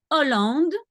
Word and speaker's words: Hollande: Okay, so I'm sure you understand that, well, we don't pronounce the H in the beginning. For example, if now you say Holland, in French, it will be Hollande. There's no H.